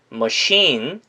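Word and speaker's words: machine: 전자기기의 영어로 dvrs dvrs 머시 인 머시 인 이건 기계 를 뜻하죠 머신 이란 단어는 특이하게 50 부분에 강세가 있기 때문에 반드시 뭐 50 뭐 시인 이라고 발음을 해 주셔야 됩니다 전자기기와 기계의 옛일 한번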